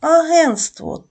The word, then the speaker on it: агентство: агентство також суфікс СТВ коли ми вимовляємо слово агентство те не вимовляється не чується А якщо ми перевіримо